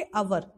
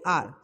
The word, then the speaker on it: our: अब आप एग्जाम्पल के तौर पे OUR इसको ही ले सकते हो, अभी तक हम इसको क्या बोलते थे, आवर बोलते थे, बट इसकी करेक्ट प्रोनाउंसिएशन क्या होती है, आर।